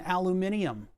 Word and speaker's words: aluminium: Aluminum, I'll tell you what, all of them are valid pronunciations. You aluminum gatekeeping fuckers don't need to think that we say it wrong because we say it right. And if you really want to be a bitch about it, it should be aluminum. Where are all the extra letters in aluminium?